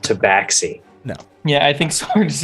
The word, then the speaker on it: Tabaxi: 300 gold take backsies it's pronounced tabaxi no yeah i think sarge is just like